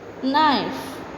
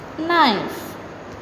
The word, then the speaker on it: knife: Knife. K is silent. Knife.